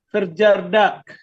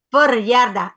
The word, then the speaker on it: verjaardag: Met je verjaardag. Verjaardag. Ingat, J di bahasa Indonesia dibacanya Y.